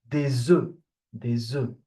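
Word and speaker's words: œufs: So first let me explain how it is pronounced. So for one egg we say enough. An okay. So the F is pronounced but for plural it the pronunciation will change. We say the zoo. So the F will become silent in plural.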